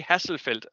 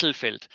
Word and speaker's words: Hesselfeld: Yes, Yes, because I continually say Hasselfeld, and that is wrong. and it Yes, is Hesselfeld.